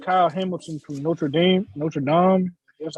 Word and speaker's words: Notre Dame: a kid named kyle hamilton from notre dame notre dame that's how you say it 6'4 200 safety